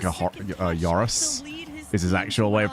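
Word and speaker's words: Joreuz: correctly do miss the good old days of Joe Rees I mean if we were to say it probably it's like a yurus is his actual way of pronouncing his name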